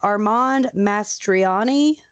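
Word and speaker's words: Armand Mastroianni: because i've heard it a million times but armand mastriani yep is that it okay um well okay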